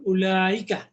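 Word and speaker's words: أولئك: বহুবচন আমরা পাবো এবার উলাইকা। এই উলাইকার উ এর পরে যে ওয়াওটা আছে ওয়াওটা উচ্চারণ হয় না, এই জন্য এখানে মাদ হবে না, উলাইকা।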